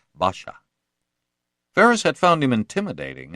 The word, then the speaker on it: Pasha: He was a commanding, well-spoken man, and people usually addressed him by the Ottoman honorific hani pasha, which they pronounced with a B sound, so that it came out Basha.